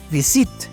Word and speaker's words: visit: No es visit, es visit. ¿Ok? Entonces, la sílaba tónica está al principio.